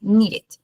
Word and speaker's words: needed: Acá es como uno de los pocos en donde uno realmente utiliza, como que pronuncia la E, de la E de needed, ¿sí? Pero es como de los pocos en donde se pronuncia.